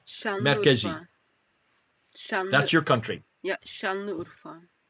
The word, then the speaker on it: Şanlıurfa: Şanlıurfa, as she pronounces it.